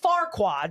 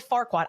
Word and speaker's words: Farquaad: Lord Farquaad, by the way, you're even not even saying it correctly. Lord Farquaad.